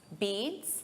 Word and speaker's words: beets: Beats. It's the same pronunciation as the verb to beat, but the spelling is different.